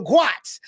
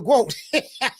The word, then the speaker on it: GOAT: You know, Carissa Shields spoke inside of the ring when an announcer mispronounced her name, calling her the Guat instead of the Goat.